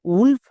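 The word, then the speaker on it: wolf: যেমন নিচের শব্দে দেখো ডব্লু ও আছে, এর জন্য কিন্তু ওয়া সাউন্ড হচ্ছে না, যেমন উলফ, উড, এই দুটো হচ্ছে ব্যতিক্রম।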